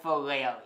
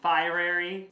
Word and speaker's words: Fieri: was just gonna say how do you say his name but it's Guy Fieri fiery for you all I